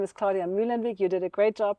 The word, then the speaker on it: Muehlenweg: beautiful introduction so yes my name is Claudia milenwig you did a great job pronouncing it and I got my fresh pair